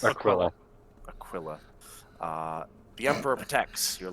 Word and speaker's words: Aquila: It's Aquila.